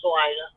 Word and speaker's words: Salina: trucker I knew called, I always called it Salina, Kansas, and then he called it Salina, Kansas. But he took loads there, so I assumed he had it right, but I'm not sure. Yeah. Yeah. No, it's Salina.